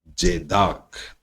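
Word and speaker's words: tzedakah: The concept of charity, charity मतलब किसी की भलाई करने का, इज कॉल्ड, उसको कहते हैं, टी साइलेंट रहेगा दोस्तों, जेदाक, उसको जेदाक कहते हैं।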